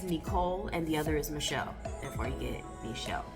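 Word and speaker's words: N'Chell: name correctly and started correcting people when they mispronounced my name um because one well let me just say my name is michelle for those of you that don't know that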